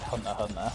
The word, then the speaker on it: Hunter x Hunter: I think it's just said Hunter Hunter. I think people actually get mad if you pronounce the X.